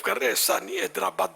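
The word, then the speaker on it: حیدرآباد: حیدر آباد بولو، مد بولنے کی ضرورت نہیں ہے.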